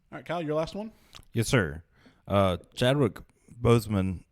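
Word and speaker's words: Boseman: yes sir uh chadwick bozeman is it bozo under boston that's bozeman okay so make sure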